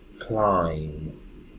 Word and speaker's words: climb: and the B together the B doesn't have any sound for example the word crying so there is an M the visible so the beam is silent climb climb bomb bomb dum-dum